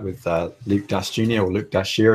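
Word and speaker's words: Dashjr: or Luke Dashier, as I'm told that it's pronounced.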